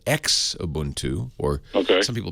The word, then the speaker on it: Xubuntu: They make a version of Ubuntu for slower, older machines called Xubuntu, or some people pronounce it Shubuntu, but it's Xubuntu.